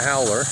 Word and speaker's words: howler: Yeah, it's a howler. And I may have mentioned this before, but howler is spelled H-A-U-L-E-R. So we pronounce it hauler, they pronounce it howler.